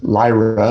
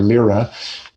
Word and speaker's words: Lyra: constellation called the liar lyra or lyra um it could be pronounced both ways some of these there's